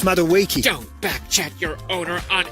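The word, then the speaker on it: Madueke: Ani Maduiki. It's pronounced Maduiki.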